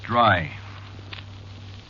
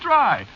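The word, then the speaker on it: Drei: yeah but of course that ain't the way you spell it see what no you see it's a german name is it yeah sure spelled d-r-e-i it means three you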